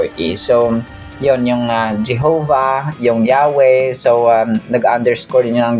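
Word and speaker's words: Yahweh: Yahwe pa rin ang pag-pronounce don mga ka-sos kahit wala yung dalawang vowels.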